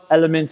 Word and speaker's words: LMNT: and then you have lmnt is how it spelled element is how it's pronounced and this one has